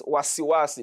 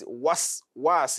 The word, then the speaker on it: وسواس: So many people recite this verse as wasiwasi. No. The sin after that wa is carrying sukun. And it has to be sukun. So don't recite as wasiwasi al-khannas. Waswasi.